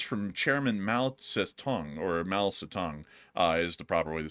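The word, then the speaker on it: 毛泽东: And apparently this was published in Quotations from Chairman Mao Zedong, or Mao Zedong, is the proper way to say that. I butchered it.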